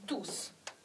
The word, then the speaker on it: tous: 块这个 do，当它是一个代词的时候，它这块的 tous 要发音，这个 s 要发音 tous，但是这里